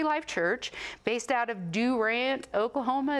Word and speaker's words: Durant: He is pastor of Victory Life Church, based out of Durant, Oklahoma. Is that how you say it? That's how you say it, if you're from Durant.